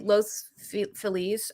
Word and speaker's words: Los Feliz: You just say it like Spanish girl. It's like Los Feliz, like it's like Feliz Navidad, Feliz cumpleaños, but like It used to be Mexico.